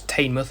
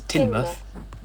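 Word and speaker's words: Teignmouth: through doris and timmoth which it turns out i've been pronouncing wrong because i always thought it was tame but no it is tinberg but if you haven't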